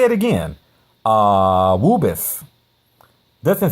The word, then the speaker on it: AAAWWUBBIS: Woobus. Doesn't saying that just make you feel all warm and fuzzy inside? It's fun to say, isn't it? As silly as it may sound, the acronym AAAWWUBBIS, pronounced Woobus, is an effective mnemonic